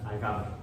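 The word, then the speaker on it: الجبر: Le llamaban el cálculo, pero en árabe se pronuncia al-gabr.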